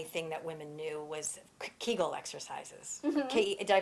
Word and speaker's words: Kegel: think the only thing that women knew was Kegel exercises okay and I pronounced that right yes um everything says differently some people take kegels okay kegels and I'll put the spelling up so that